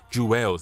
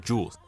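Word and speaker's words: Juelz: say his name right it's Joel's not juwes so let me say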